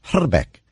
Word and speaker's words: Hrbek: remember him yes exactly I speak a little bit of Czech and actual correct pronunciation of his name is hotter Beck okay and I told